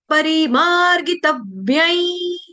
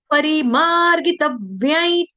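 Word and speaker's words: परिमार्गितव्यं: परिमार्ग तव्य तब्य तव्य यानी कि मैं दो व का उच्चारण कर रही हूं। स्क्रीन के ऊपर देखने में आपको या श्लोक जब देखोगे बुक के ऊपर तो आपको लगेगा एक ही तो व है लेकिन ये दो बोल रहे हैं। क्यों बोल रहे हैं? क्योंकि आघात है ना? क्यों आघात लगा? क्योंकि व्य शब्द जो है आपका व्य जो वर्ण है यह संयुक्त वर्ण है आपका जोड़ा अक्षर है।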